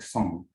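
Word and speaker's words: 松: is a pine tree i think it's pronounced something like song so using the combination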